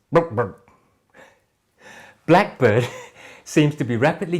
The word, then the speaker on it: BlkBrd: Now this is the Luchador, from Indian boot brand BlkBrd, pronounced BlkBrd.